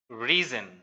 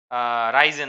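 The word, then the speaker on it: risen: এটা হচ্ছে রাইস রোজ রিজেন খুব মজা না রাইস রোজ রিজেন রাইজেন না রিজন উচ্চারণটা রিজন আর রেজ এটার পাস্ট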